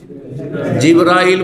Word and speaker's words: জিব্রাইল: ফেরেশতাদের প্রধান জিব্রাইল বা জিবরীল দুইভাবে উচ্চারণ করা যেতে পারে।